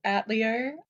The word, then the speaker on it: Atelier: So I'm going to pronounce it how they do within the games themselves, which is Atelier.